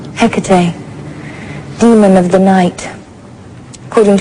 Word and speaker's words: Hecate: Um, how do you pronounce it? Hecate.